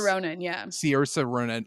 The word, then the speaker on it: Saoirse: Of just I love I can't even pronounce her name correct. Is it so Ronan? Saoirse Ronan, yeah. Saoirse Ronan.